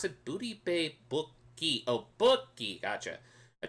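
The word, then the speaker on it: Bookie: Is that how you pronounce it? Booty Bay Buki. Oh, Buki.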